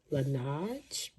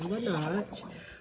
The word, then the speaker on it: Laneige: Sorry if I'm not pronouncing it right, but I think it's pronounced Laneige.